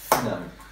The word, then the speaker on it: Finau: Finau.